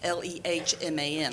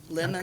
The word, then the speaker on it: Lehman: It's Lehman. I get Lehman, Lemon, Okay.